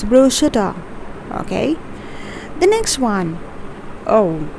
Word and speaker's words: bruschetta: hope that makes some sense so whenever you pronounce it next time it's bruschetta okay the next one oh many of you